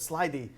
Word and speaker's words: slithy: He writes, for instance, that slithy is pronounced with a long I as in writhe, and so we add words like writhe to our list of possible meanings.